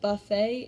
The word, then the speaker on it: buffet: And lastly, we have our two oddballs, which are spelled with an ET, but you don't hear the T in the end. So this is said buffet and ballet.